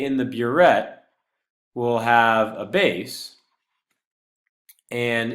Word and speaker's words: burette: This is pronounced burette.